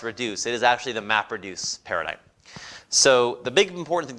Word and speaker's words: MapReduce: does it in MapReduce I'll try to sort of say MapReduce like that is one word I got this in the first on the first syllable just to keep it